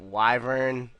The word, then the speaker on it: wyvern: Do you pronounce it wyvern or wyvern?